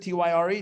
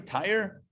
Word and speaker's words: Tyre: another of another nation tire said he pronounced it t-y-r-e tire sounds like something you put in a car anyway tyre the king